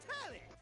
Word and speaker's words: Telly: Then, let's get before we get to what's on my screen, look, the name's Telly. Rhymes with, whoa, Nelly!